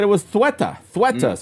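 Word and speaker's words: Ceuta: the what's going on in Spain in theta. Uh that's how you that's that's how you say it. Yeah, I know it's spelled c ue e t a. I thought it was suta.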